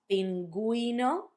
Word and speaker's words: pingüino: Pingüino, cigüeña. That's if you want for the U to have a sound when you have gegi.